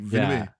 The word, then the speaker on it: Villeneuve: Okay, I actually heard the way this name was pronounced. It's like Denis Villeneuve. It's not how you think. Oh, dang. It's like two syllables, even though the name is like Villeneuve or whatever. It's like Villeneuve.